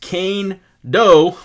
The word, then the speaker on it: Kaindoh: player bio right now so kando pronounced kane doe was tabbed as one